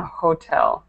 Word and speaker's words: hotel: it correctly, but just make sure that you pronounce that H on hotel every single time. Okay. So it should be hotel.